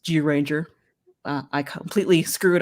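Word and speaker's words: Zyuranger: it going and he's correcting my pronunciation on zero ranger uh my apologies just georanger uh i completely screw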